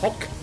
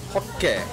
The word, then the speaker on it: hokke: But you keep it with the same sound of 1 letter. So using the 1 letter, you split it into 2 syllables, which I think is kind of cool. But yeah, that's how Japanese does it, though.